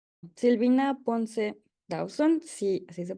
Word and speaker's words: Dawson: Silvina Ponce Dawson, sí, así se pronuncia tu segundo apellido.